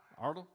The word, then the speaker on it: Iredell: Iredell? Iredell. Iredell. Ardell?